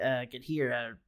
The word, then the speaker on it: Ghidorah: the only cameo that they cite is King Ghidorah.